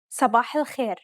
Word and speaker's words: صباح الخير: Did you pronounce these emphatic consonants correctly? Remember, to produce a dark consonant, build up pressure at the point of contact and constrict your throat. Listen to it again.